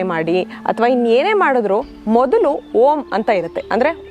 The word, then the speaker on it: ಓಂ: ಅರ್ಥ ಮಾಡಿಕೊಳ್ಳಬೇಕಾಗಿರುವಂತದ್ದು ಏನು ಅಂದ್ರೆ ಓಂಕಾರವನ್ನ ಮೂರು ಭಾಗವಾಗಿ ನಾವು ಡಿವೈಡ್ ಮಾಡ್ತೀವಿ ಅಂದರೆ ಅಕಾರ ಉಕಾರ ಉಂಕಾರ ಅಕಾರವನ್ನ ನಾವು ಈ ಅಬ್ಡೋಮಿನಲ್